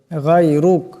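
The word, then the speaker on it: غيرك: করবেন ওয়ালা ইলাহা গাইরুক এখানে রাশ আছে এই রাটাকে মোটা করে পড়তে হবে গাইরুক এমন করে দোয়াটি আমি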